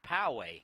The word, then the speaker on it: Poway: Hope I'm pronouncing this correctly. Poway, California. Two-one. That's outside. I stand corrected. That's Poway, California.